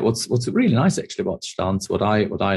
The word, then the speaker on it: Stans: So Stans, that's pronounced correctly.